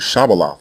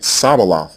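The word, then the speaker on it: shibboleth: people were taking up the Canaanite pronunciation of the word shabala which means stream and saying it sabalo instead and the text emphatically states that they were pronouncing the word incorrectly Hebrew already has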